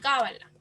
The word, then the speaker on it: cábala: Aquí tenemos unos ejemplos de las palabras esdrújulas, como por ejemplo la palabra cábala, que lleva el acento en la sílaba K, patógeno y ridículo.